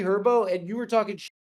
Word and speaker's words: Herbo: It's also G Herbo. The H is silent, bro. What? The H is silent. It's G Herbo.